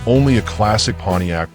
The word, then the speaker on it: Pontiac: Like only a classic Pontiac, pronounced Piat, can this 1967 Grand Prix convertible is more than just a pretty face.